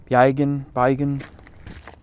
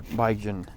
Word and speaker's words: Bergen: This is situated in the town of Bergen, which is pronounced Beigen.